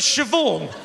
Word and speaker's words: Siobhan: in the middle of siobhan where does the h go then it goes after the b obviously the are you talking about bh is pronounced v no it's not love